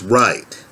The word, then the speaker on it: Wright: i received from max wright that's right spelled with a w w r i g ht i don't know max